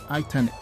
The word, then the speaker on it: iTeknic: I believe it's pronounced iTeknic. So let's see, I have it right? Yeah. All right, iTeknic.